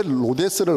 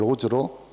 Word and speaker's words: Rhodes: 근데 어떤 누가 D가 묵음이잖아요. D가 묵음이라는 걸 저는 몰랐기 때문에 그걸 로즈로 저는 읽을 수가 없었던 거죠. 그래서 D가 묵음이니까 그래서 로즈로 읽을 수 있겠구나.